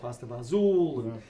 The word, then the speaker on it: pasta fagioli: Of course, with Italian dishes, you could probably ask 10 different people how to pronounce that particular soup, and they'll pronounce it 10 different ways. Yeah. I call it pasta fagioli, but you'll hear it called pasta fazool, and a couple of other pronunciations.